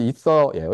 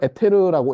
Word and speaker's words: ether: 둘 다 발음은 이서예요, 이서.